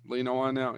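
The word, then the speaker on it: Whannell: Uh, As much Yeah, as I it's like not- the Invisible Man Upgrade, Lee, Yeah, am I pronouncing his name right? Lee Lee Wanell. Wanell, yeah.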